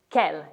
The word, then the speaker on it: quel: our table on the downloadable document which is Kell in French the masculine singular version will be